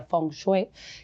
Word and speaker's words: feng shui: fengui porque muchas veces la palabra fenguer, bueno, en en chino se pronuncia fongue, que significa literalmente agua